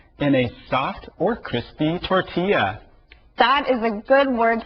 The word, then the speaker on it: tortilla: So when you see the two L's together, it makes a different sound. Tortilla.